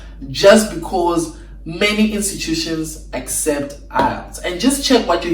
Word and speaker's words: IELTS: And another thing is that IELTS, yes, it's pronounced IELTS, IELTS, which many British universities actually accept, usually doesn't have a lot of days available.